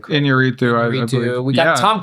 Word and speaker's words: Iñárritu: And then an October film by Alejandro, I don't even know how to pronounce his last name. Iñárritu, I believe.